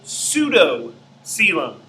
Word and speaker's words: pseudocoelom: This is a pseudo-coelom. And pseudo-coelom is spelled P-S-E-U.